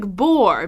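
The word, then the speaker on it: boor: It sounds like bore, B-O-R-E, but actually it's spelled B-O-O-R.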